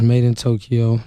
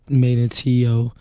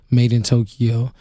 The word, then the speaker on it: MadeinTYO: Hey, man, it's Made in Tokyo, not MadeInTYO, not Tyo, Made in Tokyo, Mr. Tokyo.